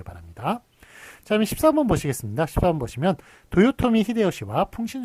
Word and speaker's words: 도요토미 히데요시: 그렇게 이름을 부르기도 했어요 그런데 일본 발음은 다르죠 도요토미 히데요시 이토 히로부미 뭐 이런식으로 이렇게 했었는데 어떤 식으로 표기를 하게 되느냐 일본식 발음으로 하기로 했습니다 그래서 도요토미 히데요시 그 다음엔 이토 히로부미 이런식으로 써주는 게 맞겠습니다 그래서 풍신 속에 이런